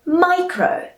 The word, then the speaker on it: micro: the cake all right we say micro like it was my cake all right so it's